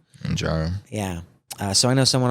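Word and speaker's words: Mounjaro: the other one is I think it's pronounced monjaro monjaro yeah so I know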